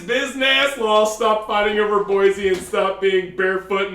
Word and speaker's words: Boise: second syllable I say Boise we both agreed the the end is like a z like Boise we both agree or